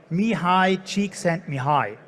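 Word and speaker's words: Mihály Csíkszentmihályi: of flow and that's me high cheek sent me high that's how you pronounce him i would just refer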